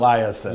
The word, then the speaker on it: Eliasson: And pronounce his name properly. Jan for us. Eliasson.